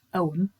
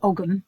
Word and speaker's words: ogham: The origins of the tree ogham, pronounced ogham, some people say ogham, but it is ogham. It's a silent g.